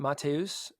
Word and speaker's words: Matheus: say his first name is it matus I believe or or is it I think he says it like that yes I think mat Nicola